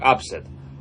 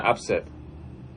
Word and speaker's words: upset: Ну, это глагол, и он тогда читается как upset. А когда как прилагательное upset.